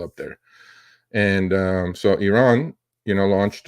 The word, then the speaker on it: Iran: the debate Mr wals it's not Iran it's Iran I mean Iran doesn't exist Iran is the way Americans say Iran it's Iran you